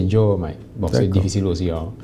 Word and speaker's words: Diomaye: prononciation normale c'est Diomaye bon c'est difficile aussi